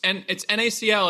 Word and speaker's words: NaCl: So it's NACL is what we're called. NACL. Mm-hmm. Like salt. Like salt, because look at this.